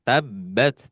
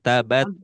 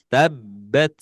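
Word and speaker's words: تبت: Ingat-ingat di tabbat tekan. Ya, tabbat tidak tabat, tapi tabbat.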